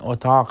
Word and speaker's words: اتاق: یہاں دیکھ لیں اتاق بھی نہیں ہے تلفظ اور اتاق بھی نہیں ہے جس طرح اردو میں ہم تلفظ کرتے ہیں، بلکہ یہ تھوڑا سا غین کی طرف متمائل ہے. اس کا تلفظ فارسی میں بالکل غین بھی نہیں ہے جس طرح نہیں تلفظ. آن اتاق است. آن اتاق است. یہ تلفظ تھوڑا سافٹ ہے قاف کا، یعنی اتنا زیادہ وہ گاڑا نہیں ہے.